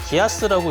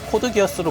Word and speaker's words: Geass: 룰루슈 r2에 나왔던 기체죠 기어스라고 하면은 gass라고 써서 기아스라고 읽어야 될 것 같은데 국내에서 코드기어스로 먼저 알려지다 보니까 아직도 코드기어스로 많이 알려져 있고요 저도 얼마 전까지 그렇게